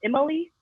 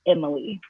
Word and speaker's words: EmmoLei: guest so i want to be sure i'm pronouncing your name right is it just emily yeah emily perfect perfect thank you i always want